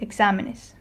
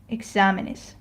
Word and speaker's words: exámenes: Okay, another word that I can demonstrate it on is the word exámenes.